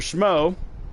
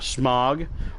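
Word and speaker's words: Smough: Like the fact that Executioner Schmo, it is pronounced Schmo, not Schmog, not Smoog, it's Schmo.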